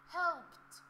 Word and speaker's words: helped: Helped.